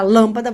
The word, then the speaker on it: lâmpada: Você fala, vou trocar a lâmpada, vou trocar a lampada, vou trocar a lâmpada. Essa é a sílaba mais forte. Última, penúltima, antepenúltima, acento nela.